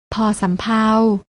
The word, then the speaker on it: ภ: อ่าน ว่า พ พาน และ พยัญชนะ ตัว ที่ 3 อ่าน ออก เสียง พ่อ สำเภา น้อง ๆ ลอง อ่าน